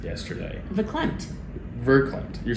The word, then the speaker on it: verklempt: You used the word verklempt yesterday. Verklempt.